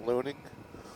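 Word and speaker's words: Luning: Ling Nevada might be pronounced loning that's l u n i n g I have filmed videos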